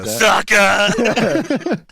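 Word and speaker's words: Seca: I had Easton Secca. Is that how you pronounce it? S-E-C-A? Yeah. Sucker.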